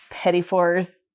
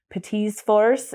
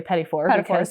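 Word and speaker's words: petits fours: their teas and so petty fors arrived and it's actually Pez fors is the correct way to say it with it because the French pluralize both words so if you're saying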